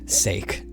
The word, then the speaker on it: sake: there is that sake is pronounced just like rake sake right have you ever